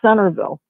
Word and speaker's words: Centralville: And like the last thing I seen, it said Centralville, pronounced Centerville.